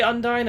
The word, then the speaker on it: Undyne: I think it's supposed to rhyme with undying.